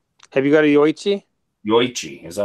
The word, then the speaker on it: Yoichi: Yoichi. Is that how you pronounce it? It's 61.6% alcohol. Sounds pretty nice. Yeah, with Japanese and Korean spellings, they don't blend vowels.